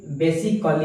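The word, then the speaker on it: basically: यहाँ पर जो ए रहेगा, ए को हम साइलेंस करेंगे, है ना, बेसिकली।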